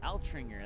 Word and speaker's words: Altringer: Altringer, that's how you say it.